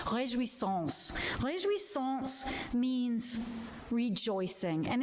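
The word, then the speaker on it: Réjouissance: The title of today's service, which Suzanne pronounced pretty darn well, I think. I'm not a perfect French speaker, but it's Rejouissance.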